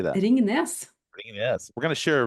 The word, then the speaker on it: Ringnes: Ringnes.